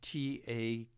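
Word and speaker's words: Takács: that's a hungarian name t-a-k-a-c-h um the actual hungarian spelling of it is t a c a a ac with a little diacritical mark over the sea and which makes it pronounced uh takach although they changed the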